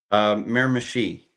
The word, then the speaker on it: Miramichi: So how do you pronounce the dragway that you're at? Miramichi.